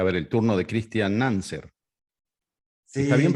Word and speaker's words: Nanzer: A ver, el turno de Cristian Nanser. ¿Está bien Sí, pronunciado, Nanser? cáncer, como, Ah, como bien, suena.